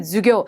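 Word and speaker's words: 授業: 수업이라고 할 때 주교. 그리고 수업은 자체 한자어로도 시험에 자주 등장하는데요. 숫자의 발음이 짧은 주 발음인 것도 봐두시고 손 숫자 붙어 있는 것도 놓치시면 안 되겠습니다.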